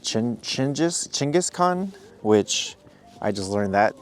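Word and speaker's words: Genghis Khan: So, one of the biggest histories worldwide is well, Genghaskhan. And we're here at the Genghaskhan uh statue complex. And it's actually pronounced Chin Chinjis Chingis Khan, which I just learned that today.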